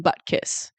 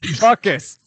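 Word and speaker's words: Butkus: what dog the dog oh buckus not butt kiss buckus Sarah buckus not but the subtitle said butt kiss yeah you don't pronounce the T that hard bu I thought was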